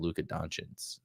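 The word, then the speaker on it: Luka Dončić: I got Luka Doncic.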